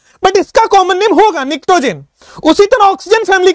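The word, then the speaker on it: pnictogen: निक्टोजेन इसको बोलते हैं, पी साइलेंट है, निक्टोजेन, ठीक है।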